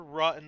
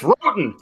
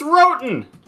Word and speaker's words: Roten: Rotten on pole, Gonzalez outside. That's Roten. It's pronounced Roten.